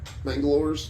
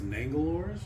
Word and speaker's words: Mangalores: Mangalores. Mangalores? That sounds about right. I think it was Nangalores? Said Mangalores. Mangalores? I've been saying it wrong this whole time.